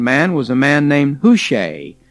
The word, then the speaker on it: Hushai: was a man named who shay h-u-s-h-a-i who shay and um i suppose we could also pronounce that who shy and so hush i